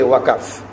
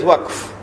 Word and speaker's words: waqf: Now you must not say waqaf, because the word is in the Quran, you must pronounce it as it is in the Quran. So you give it as waqf.